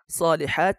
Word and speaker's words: الصالحات: সলিহাত এই জায়গায় যদি গুলতা হতো, থামতে হলে সলিহা হা উচ্চারণ করে থামতে হতো। যেহেতু গুলতা আসে নাই, তাই সলিহাত থা লম্বা তা বলেই থামা হয়েছে।